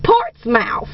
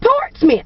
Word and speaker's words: Portsmouth: i see out here will partying and it's part's mouth he said that's it i said parts now i said he said no there's people in virginia pronounce it portsmouth i said but smith is spelled s-m-i-t-h go